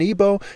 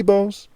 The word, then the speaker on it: Igbo: Obi means King Heart Hut Essence Center Temple Core in Igbo, and the word Igbo, I-B-O, when it's spelled that way, it's also spelled I-G-B-O, where the G is silent.